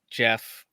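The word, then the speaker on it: Geoff: i was telling you it's jeff like g-e-o-f-f yeah spell for the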